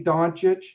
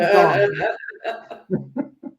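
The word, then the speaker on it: Dončić: Want to make sure and pronounce it for me to say Doncic, because I know you try to rub it in and call him Doncic.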